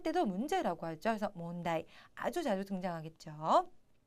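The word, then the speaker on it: 問題: 문제, 몬다이라고 하죠. 그런데 자, 일단 제자는 문자는 몬 약간 발음 비슷하지만 제자가 좀 특이해요.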